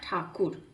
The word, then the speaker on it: ठाकुर: देख रहे हो ना, Tagore actually he वाज not Tagore, he was Rabindranath ठाकुर। बट ठाकुर, ये ब्रिटिशर्स ये ठाकुर प्रोनाउंस नहीं कर पाते थे, तो जब वो ठाकुर को प्रोनाउंस नहीं कर पाते थे तो उन्होंने ठाकुर को टैगोर बना दिया।